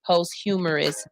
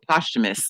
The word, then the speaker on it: posthumous: Islam was released in 1987 but died 2009 and received received a post-humorous exoneration after he death after death am I not saying it right oh posthumous important is that Mohammed